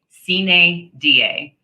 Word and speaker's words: sine die: It takes effect 90 days sine die. And yes, I had to write down the pronunciation for myself and highlight it over here.